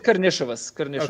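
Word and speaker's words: Karnišovas: It's Karnisovas. Okay. That's I want to say it right. So Karnisovas. Okay. Yeah, I've been saying it wrong for 7 years. Like an SH. Like an SH. We said there's like a tongue roll in there.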